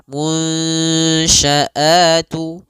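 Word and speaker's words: الْمُنشَآتُ: Nah, caranya adalah kita samarkan nunnya kepada huruf syin munsya. Munsyaatu ya samarkan kepada makhraj huruf syin langsung. Seakan-akan kita ketika melafalkannya langsung mau melafalkan huruf syin.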